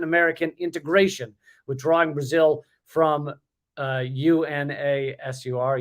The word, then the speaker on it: UNASUR: He also dedicated himself to sabotaging institutions of Latin American integration, withdrawing Brazil from UNASUR, UNASUR. So that's pronounced.